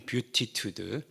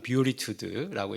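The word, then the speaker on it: beatitude: 어이 영국식 발음 뷰티투드. 어 영어식발음 뷰리투드라고 이렇게 얘기합니다.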